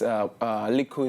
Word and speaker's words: Lickle: Little is Lickle is a pronunciation in Jamaican for little.